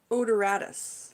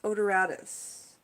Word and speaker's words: odoratus: So sweet pea, the way that we pronounce the name is Lathyrus, L-A-T-H-Y-R-U-S, Lathyrus, Lathyrus, odoratus, Lathyrus odoratus.